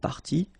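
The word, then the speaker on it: partie: what you will pronounce the good news is that you won't pronounce these a s or a s okay so it will go like party party and then here same thing party party and party okay so phonetically it's not that difficult but then if you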